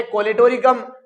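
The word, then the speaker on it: Colletotrichum: तेरा ड्रामा कर ले तू कम, तेरा ड्रामा से है ट्राइकोडर्मा, कर ले तू कम से है कोलेटोरिकम, वरना यहां पे साइलेंट है।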